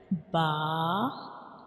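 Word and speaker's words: باء: And when we pronounce Ba, we touch the inner parts of both of lips. Okay. When we pronounce Ba, we touch the inner parts of both of lips like Ba, Ba.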